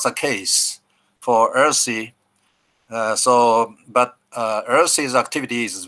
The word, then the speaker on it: URSI: way you rsi you you pronounce earthy you know earthy earth is a pronunciation of this word and the reason why